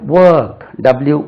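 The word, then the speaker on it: work: B verb வென்டிலேஷன் வெண்டிலேஷன் w வரும்போது வாய் உருண்டு வொர்க் wo ஆர் கே வொர்க் I have some வொர்க்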